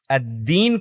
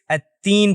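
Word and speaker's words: الدين: تطوع نہ کہ تطوع۔ غلطی نمبر 3، دال کو تا پڑھنا ہے۔ جیسا کہ ہم نے کہا یہ دو حروف بالکل ایک جیسے ہیں سوائے مجہورہ صفت کے۔ اگر آپ نے دال کا تلفظ کرتے وقت ووکل کارڈز کو لرزش نہیں دی تو آپ بنیادی طور پر تا کا تلفظ کر رہے ہیں، اور یہ سورۃ الفاتحہ میں ہونے والی عام غلطیوں میں سے ایک ہے۔ الدین کو التین پڑھنا۔ التین اب یہاں میں نے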